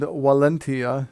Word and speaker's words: valentia: It actually comes from the Latin amba, meaning both, and valentia, meaning strength. Valentia is spelled V-A-L-E-N-T-I-A. The V's sound like W's in Latin.